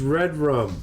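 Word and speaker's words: Redrum: Oh, the name is Red Rum. That's murder spelled backwards. That was written on the mirror. Red Room, in pronounced lipstick.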